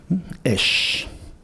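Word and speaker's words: אש: Los 2 puntitos en horizontal debajo es el sonido vocálico de la E, y la letra Shin con el punto en la rama de la derecha es el sonido Sh, que es un sonido onomatopéyico, ¿no?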